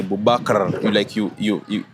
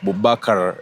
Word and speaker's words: Boubacar: Where you see, for example, some guys from Algeria or Morocco, Boubacar, you say Boubacar. You have to mention that R. R. Boubacar, yeah, you get.